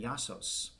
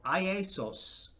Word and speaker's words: Iasos: Finally, that brings us to number 5, my friend Yasos, or who I used to call Iesos. I kept on mispronouncing his name because it was the first, Greek pronunciation I had to contend with when I met him.